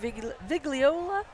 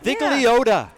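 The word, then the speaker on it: Vigliotta: Now we have City Attorney Mike Vigliola. Is that I pronounce it right? Yeah, Vigliota.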